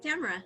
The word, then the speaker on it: Tamara: My guest today is a very, very special woman named, and I'm probably going to mispronounce it because I never heard your name spoken, Tamara? Yes, Tamara.